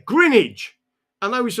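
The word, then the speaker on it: Greenwich: I said, "Oh, Grinnidge." And they went, "Green witch." And I went, "Yeah, Grinnidge."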